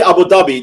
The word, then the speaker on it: Abu Dhabi: We say Abu Dhabi. That's the real pronunciation.